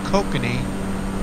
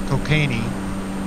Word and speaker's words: kokanee: Yep, rainbow trout, and that is kokanee, not cocainey, and also bass.